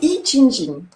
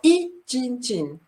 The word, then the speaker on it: Yijinjing: Alors, les I Ching Ching.